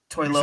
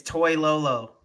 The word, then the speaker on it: Toilolo: Toy You Lolo. said was it who? Lolo? No, Lolo? it's Toy Lolo.